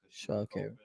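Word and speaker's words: Sha'Carri: Yeah, her name is Shaw Carrie Richardson. Because she was blowing on some herb. I'm saying it right. Shaw Carrie.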